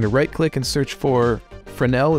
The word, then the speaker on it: Fresnel: I'm going to right-click and search for Fresnel. It's spelled Fresnel with an S.